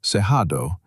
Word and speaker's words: Cerrado: The Brazilian Cerrado, pronounced Cerrado, covers over 500 million